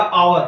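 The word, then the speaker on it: hour: uninvited person are power H हमारा silent है तो ओ हमारा क्या होगा इसको करेगा डिनोट तो हमारा एस साइलेंट हो के हमारा आएगा आवर क्या आएगा आवर आवर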